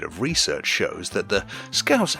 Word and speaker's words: Scouse: online is that apparently in some overseas countries, Scouse has been pronounced with a Z instead of an S. Scouse. I honestly had no idea that was a thing, because it shouldn't be, because it's wrong.